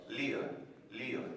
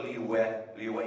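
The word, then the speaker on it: Liyue: to say Leo and the way to say it right is you go Leo Leo you don't go le le you don't do any of that stuff Le and we did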